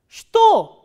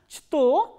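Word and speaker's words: что: in the beginning that this is an exception. So, here this ch sound is, ch letter is pronounced as sh, sh, not as ch. So, now try to pronounce this word shto, shto. So, instead of pronouncing is as chto, we are pronouncing is as shto.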